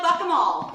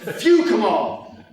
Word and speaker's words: Fukemal: Dwayne Boyd, fuck 'em all. Fukemal. Name's pronounced Fukemal. It's Dutch.